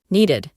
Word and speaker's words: needed: Como to need es un verbo regular, su forma en pasado simple es needed, y la pronunciación es needed. Con una I larga, reemplazamos la doble E.